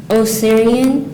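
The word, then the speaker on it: Osirian: it's an as to are there any alternate pronunciations no oyan oyan can you please use this word in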